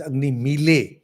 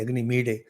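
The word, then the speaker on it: अग्निमीळे: The term is Da, and the pronunciation is in between Da and La. And that's why some people pronounce it as Agni Mile, and some say Agni Mide. Pronunciation is in between Agni Milde, La, Da combined.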